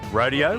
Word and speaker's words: rodeo: We're about to hit the stage inside the arena inside with a rodeo, or should I say rodeo, as the locals say it.